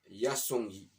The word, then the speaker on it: Yassongui: Voilà, Yasongi, voilà, comme ça se prononce.